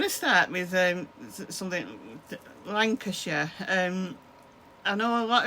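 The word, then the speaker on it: Lancashire: So, it's Lancasher. Lancasher.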